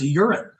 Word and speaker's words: Joran: I think in his native Dutch dialect, his first name is pronounced Joran.